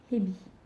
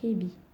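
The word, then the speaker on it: へび: Le serpent, c'est hebi. C'est comme pour la crevette, sauf qu'il y a un H devant. Donc, du coup, on l'aspire. On fait la crevette, c'est ebi. Et le serpent, c'est hebi.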